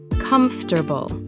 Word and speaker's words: comfortable: Only 3 syllables in natural speech, not 4. Pronounced comfortable.